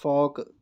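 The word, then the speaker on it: folk: उसके बाद मेरे फॉक, क्या क्या, एफ लॉन्ग वावल ए और के, एल यहाँ साइलेंट होगा, फॉक, फॉक, फॉक।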